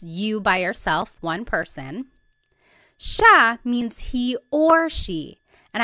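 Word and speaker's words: siya: look at the spelling it looks like it should be pronounced CIA but it's actually pronounced Sha Sha there are some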